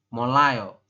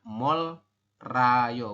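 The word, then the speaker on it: 몰라요: berbunyi l seperti itu Jadi kita bacanya molayo seperti itu bukan mol Rayo bukan ya tapi kita dibacanya adalah molayo teman-eman seperti itu ya yang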